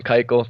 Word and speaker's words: Keuchel: Former Astro Keuchel, Dallas Keuchel, or however you pronounce his name. Keuchel, thank you.